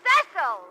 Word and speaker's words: Cecil: Darling, it's pronounced Cecil.